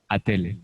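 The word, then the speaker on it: отель: Et comme je viens de dire, quand le O n'est pas accentué, vous corrigez vous-même, vous prononcez Attel.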